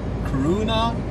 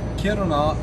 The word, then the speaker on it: Kiruna: I'm on my way to Karuna as Americans would say it or Kiruna as we in Sweden say it and Finland and Norway and pretty much any other country that know how to pronounce Kirona.